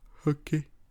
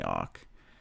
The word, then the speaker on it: Ok: There was actually OneFC last night, and Eddie Alvarez lost to Hooky. I forgot what his name is. His name is actually Ock, but it's spelled OK.